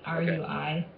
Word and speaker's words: Rui: I would pronounce it Rui, R-U-I. Okay, Rui.